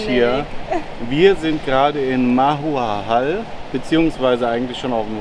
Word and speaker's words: Mahahual: So Freunde, und jetzt noch einmal richtig ausgesprochen. Der Ortsname heißt nämlich Mahuahal.